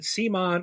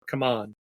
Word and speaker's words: CMON: Okay, I got to ask you, Rob, is it CMON or come on? I've heard it pronounced both ways. I've always said CMON. I know that there was a change, but it used to be Cool Mini or Not when they first started.